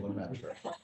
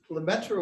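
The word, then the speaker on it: Lemaître: it's exhausting for me just use the standard american mispronunciation lumetri that's okay yeah okay um and uh there he is behind us look at that um so lementro was a really remarkable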